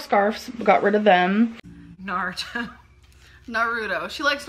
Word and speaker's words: Naruto: a lot of scarves got rid of them Naruto Naruto she likes Naruto no it's Naruto narut Naruto narut yes what was that better